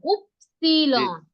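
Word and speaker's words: Ypsilon: উফসিলন রুসুফ উফসিলন হ্যাঁ এভাবে উচ্চারণ করেন উফসিলন উফসিলন হ্যাঁ গুড স্যাড ইয়া সেট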